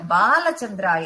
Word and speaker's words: பாலசந்திராய: விகடாய நம விக்ராஜாய நமக பாலசந்தராய நமக தூம கேதவே நமக அப்படின்னு சொல்லிட்டு சொல்லுவோம் அப்ப அந்த பாலசந்திராய நமஹ அந்த பாவ நம்ம உச்சரிக்கணும் அது இல்ல பாலசந்திராய நமஹ அப்படின்னு உச்சரிக்கணும் நெற்றியில் சந்திர மந்திரனை தரித்தவர்